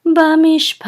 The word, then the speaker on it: bamishpat: This is a revi'i, and so with this revi'i we know that the accent is on the last syllable, pat. And revi'i says, revi'i. So this is bamishpat.